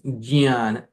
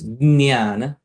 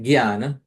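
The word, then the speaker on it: ज्ञान: Actually, the pronunciation is jnana, jnana. That nya is a nasal sound, jnana.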